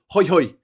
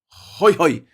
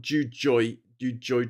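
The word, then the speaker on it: Jujuy: And it's called San Salvador de Ho hoy. It's pronounced ho hoy. Not not not juoy joy.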